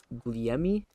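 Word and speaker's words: Gugliemi: So his name is Noel Guglielmi, I believe it's pronounced.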